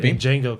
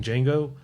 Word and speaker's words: Django: Kind of like uh Django. Kind of like in Django. The D is silent. The D is silent. He's talking to the real Jango.